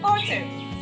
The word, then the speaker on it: autumn: Letter N makes the sound in a word, and look at this, the word autumn. Autumn. Letter N is silent.